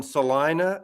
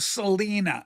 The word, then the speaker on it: Salina: It's in salina that rhymes with vagina. Ma Massie, you're so right about that. See, I thought Selena seemed right because isn't there like a Selena Texas?